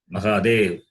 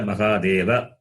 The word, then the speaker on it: Mahadeva: Hara is Hara Hara Mahadeva. That A is there. But in Hindi, the last vowel is always cut, not pronounced.